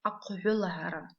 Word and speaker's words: аквелара: Видите, в середине слова стоит буква «и». Мы читаем ее мягко, практически незаметно. Это то, как чаще всего эта буква читается в абазинском языке.